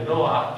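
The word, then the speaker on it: נֹחַ: Também fica bem saber, mais que o Jeová que nos dizia ontem, que o nome em hebraico é Noá, e os ingleses ainda pronunciam assim.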